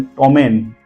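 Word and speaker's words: ptomaine: पी is silent then टोमन टोमन का भी spelling आप ध्यान से देखिए प प्लस टी है टी के आगे पी दिया गया है दैट इज वई यहां पर प साइलेंट है स्टूडेंट्स ये तीन रूल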